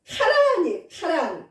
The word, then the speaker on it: 하란: 그런데 이 하란은 그 하란이 아니라 히브리어로는 카란이 카란으로 발음해야 맞는 건데 우리나라에서 번역할 때 하란으로 하다 보니까 저도 읽을 때 얼마나 어려웠는지 몰라요.